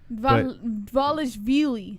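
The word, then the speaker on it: Dvalishvili: Valishvili. Valishvili. I guess, yeah, the D is probably silent, right? Valishvili.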